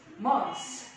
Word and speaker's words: months: so I say months. so there's no th.